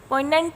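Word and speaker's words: poignant: पोइनेंट एक एडजेक्टिव होता है दोस्तों, इसमें जी साइलेंट होगा।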